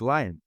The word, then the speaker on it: Lion: So I am available on LinkedIn and so look me up and last name spelled like lion L I O N or and then L I O N.